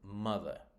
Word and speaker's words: mother: So we have got in English so around 80% of two-syllable nouns, adjectives, and adverbs are stressed on the first syllable, right? For example, mother, happy, madly. You should hear that the second syllable there, mother, is just an unstressed syllable, but the stressed syllable is on the mother.